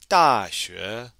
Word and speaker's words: 大学: And don't forget with that X, it can be very difficult to pronounce, but you'll be able to pronounce it correctly if your tongue is touching the back of your bottom teeth.